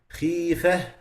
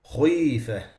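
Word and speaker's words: خِفَّة: So instead of saying khifah, which is the right pronunciation, they say khuyfah, khuyfah, like this. That's too much pressure.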